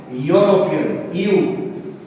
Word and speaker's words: European: E is a vowel, you know, but this doesn't give us a vowel sound. It is a vowel, but it is pronounced as consonant. European, European, like that. It comes like that. So European, it is also pronounced as U.